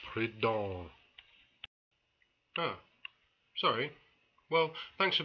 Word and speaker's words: Proudhon: Am I pronouncing that right? Proudhon? No, you're not. It's Proudhon.